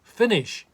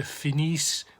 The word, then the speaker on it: finis: The pronunciation of isn't going to help you too much with the endings, because of course we don't pronounce those endings. We don't say je finis, we say je finis.